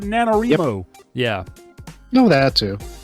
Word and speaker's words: NaNoWriMo: the internet which I'm very familiar with this nanowrimo which is how it's pronounced yeah National novel writing month I was called nanowrimo yeah I know that too do you have